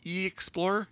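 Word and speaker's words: E-Xplorer: i'm saying it right it's capital e hyphen explorer so i think it's e-explorer that's the way i think you're i think you're exploring i think that's reasonable i think that's a reasonable assumption based on the way this is spelled the reason that it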